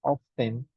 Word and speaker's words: often: Es, you can say here often, yes, that's right, but it's more common to say often without T. More common to say that, to pronounce like this. Es más común escucharlo often, ¿no? Sin la T.